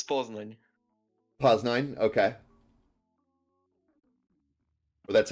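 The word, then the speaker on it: Poznań: I'm going to say Peznan on my end. Poznan. It's Poznan.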